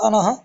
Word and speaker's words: अनः: धन अनः ठीक है ह का उच्चारण इसलिए कहा मैंने अनः क्योंकि विसर्ग लगा हुआ है और विसर्ग का उच्चारण ह में होता है।